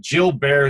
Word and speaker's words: Gilbert: of that there's a condition called Jill Barre syndrome it's spelled spelled like Gilbert's G ilbe RT and